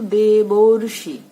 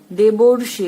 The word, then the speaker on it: দেবর্ষি: এখানে অর কোথায় হলো, এই যে একটা রেফ এসেছে, উচ্চারণটা কেমন হচ্ছে বলো তো, দেবর্ষি। বুঝতে পেরেছো? দেবর্ষি, এই যে অর শব্দটা, অর ধ্বনিটা কিন্তু আমরা পাচ্ছি।